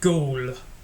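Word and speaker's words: Goole: way up in Google he's pronounced gold which is actually Google without a G so if you type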